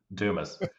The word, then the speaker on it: Dumas: Dumas. Dumis. Dumis.